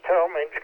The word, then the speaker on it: Talmage: And next is WA4 WGA Ray at Thomas, Ohio. Did I get that pronunciation right? And what would you like in your ham shack? You did pronounce Talmage correctly.